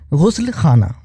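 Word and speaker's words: ग़ुस्लख़ाना: ग के नीचे भी नुक्ता है और ख के नीचे भी नुक्ता है गुस्ल खाना याद रखिए गुस्ल गुस्ल खाना गाजियाबाद यह दरअसल यह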